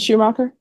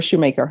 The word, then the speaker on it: Shoemaker: Schumacher? Yes, ma'am. Am I pronouncing it right? Is it Schumacher or Shoemaker? Shoemaker.